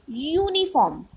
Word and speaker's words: uniform: Although uniform starts with the word U, but when we pronounce it, we say uniform.